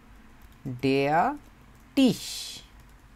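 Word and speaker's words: der Tisch: এটা হচ্ছে টেবিল, টেবিলকে বলা হয় হচ্ছে ডেয়া টিস। উচ্চারণ বাংলায় দেখলে টয়রস্যি তারপর তালিবস্য, টিস, টিস, ডেয়া টিস।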